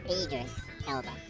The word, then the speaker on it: Idris Elba: It's Idris Elba. Idris Elba. Yeah. I need to get my name pronouns right. Your name pronunciations.